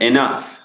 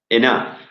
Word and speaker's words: enough: And enough. Enough. It's difficult to pronounce. Enough. Can you repeat? Enough. With an F.